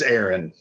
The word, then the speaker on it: Aaron: Or it's Aaron. I know it's spelled like Aaron, but it's Aaron.